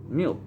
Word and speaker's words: mil: to what i say meal i say meal is how you say thousand in spanish so if we say